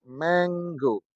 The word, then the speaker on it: mango: atau pengucapannya tidak sama Bagaimana pengucapannya ditulis Mango diucapkan menggo menggo menggo menggo menganggo menggo menggo beda kan ditulis Mango diucapkan menggo sehingga antara tulisan dan pengucapannya berbeda Nah kalau kita enggak